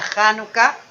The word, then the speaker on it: Janucá: bien la festividad de januca transliterada al inglés como chanuca así lo va usted siempre contar con che en el inglés pero se pronuncia janucá llamada la fiesta de